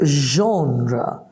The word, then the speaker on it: genre: So, genre. Now, the spelling is G-E-N-R-E. Genre, right? It's not genre.